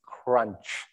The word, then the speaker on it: CRUNCH: If you have trouble, it's the right way to say it is crunch.